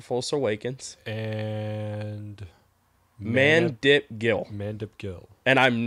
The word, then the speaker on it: Mandip Gill: Mandip Gill. And I'm not shitting you. That's how you pronounce his name.